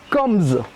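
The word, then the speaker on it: Kambz: on prononce, ça s'appelle Combs. D'accord. Alors je te prononce, K-A-M-B-Z. Combs. Combs. Comment tu prononces ça, toi? Ben pareil, Combs.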